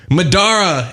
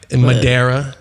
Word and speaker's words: Madara: that happen a lot he said it right the first time and then he decided to add his own little twist in there Madera do you get that